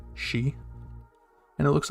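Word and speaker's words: し: and then we have our first exception which is she spelled in romanji s-h-i she and it looks like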